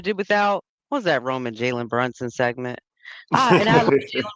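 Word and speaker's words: Jalen Brunson: his goddamn name saying Jallen Brunson and all this other It's Jaylen Brunson. Pretend you see a Y there.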